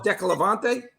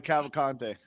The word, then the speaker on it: Cavalcante: I can't even fucking pronounce that fucking family name. What do you call it? Decalavante? Oh, the Cavalcante.